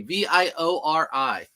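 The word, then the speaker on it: Vuori: very easy to list is viori how you spell it yep you spelled it perfectly v i o r i viori Ju Just how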